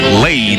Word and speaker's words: Lade: Lade is the correct pronunciation.